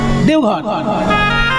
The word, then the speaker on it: দেবঘর: পাঁচ ঘন্টার মধ্যেই পৌঁছে যাবেন বৈদ্যনাথ তাই না দেবঘর দেবগৃহ দেবতার গৃহ বলেই দেবগৃহ বা বৈদ্যনাথ ধাম এই হ্যাঁ হ্যাঁ দেবঘর আর সংস্কৃতে বলা হতো দেবঘর দেবগৃহ দেবগৃহ সেখান